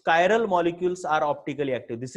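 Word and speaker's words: chiral: अब ये कायरल जो चीज है, इसको आप चिरल भी बोलते हो कुछ लोग, लेकिन इसका सही प्रोनाउंसिएशन कायरल है।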